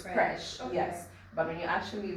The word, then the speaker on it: Phresh: correct you actually because most people mispronounce it they actually forget that there's an H there fresh so now it makes